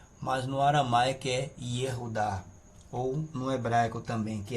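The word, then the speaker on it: יהודה: Aqui nós temos o Yud, nós temos aqui um Shevá aqui embaixo, significa que é para permanecer a pronúncia do som do Yud, o rei.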